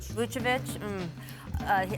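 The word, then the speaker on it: Vučević: Orlando coming off a win against the Pelicans, spurred by the return of All-Star Nikola Vucevic. Did I do that okay? Vucevic? Pretty good. Vucevic. Our resident Slav Croatian pronouncer.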